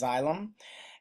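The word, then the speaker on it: xylem: Remember, water would travel via a plant, the xyllem tissue, X Y L E M, that's pronounced xyllem.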